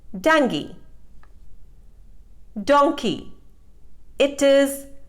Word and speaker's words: dengue: correct pronunciation is berry dengue it is mispronounced as dengu the correct pronunciation is dengue donkey it is mispronounced